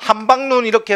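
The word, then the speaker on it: 함박눈: 세 번째 음절에 왔네. 즉 둘째 음절 이하에 왔다는 거야. 이럴 때는 한방눈 안 그러죠. 뭐라고? 한방눈이 내린다. 이렇게 짧게 발음이 되더라는 거예요.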